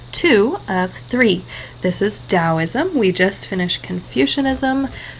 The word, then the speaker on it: Daoism: get confused it is dosm and even if you see it with a t you'll still see it um you'll still pronounce it as though it's a d dosm all right this is